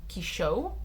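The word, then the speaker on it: Quichotte: His way of being taught how to pronounce like the Don Quixote thing is Quichot in French, because they don't use the X, they have CH instead, and I thought that was interesting.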